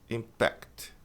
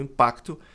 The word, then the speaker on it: impact: Aí a tônica tá na última sílaba e muita gente pronuncia exatamente como pronunciou aqui, impacto. Impact, impact, mas o impacto substantivo é impact e o verbo é impact. Impact. A tônica tá na última sílaba.